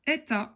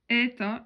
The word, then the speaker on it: êta: h c'est en fait la lettre et ta qui va se prononcer e donc vous voyez que vous avez là le son et et là le son et Epsilon ça veut dire et pincé et ta est plus ouvert donc en minuscule le